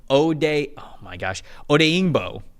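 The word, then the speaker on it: Odeyingbo: And then Odeingbo.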